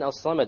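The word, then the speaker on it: الصمد: Okay, the lam in as-samad, why did we not pronounce it? Solar. It's a solar letter. The sad is a solar letter, which means we drop the lam when we have the alif lam there.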